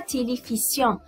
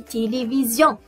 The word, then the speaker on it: télévision: Denise et Elisabeth regardent un film de Zorro à la télévision. Denise, oui, Elisabeth regarde un film de Zorro à la télévision. C'est très bien. Vous voyez comment le S ici est entre deux voyelles, le I et le I, donc elle se prononce Z.